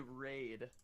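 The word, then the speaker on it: Wraid: So this person's name is His name should be Raid, spelled with a W.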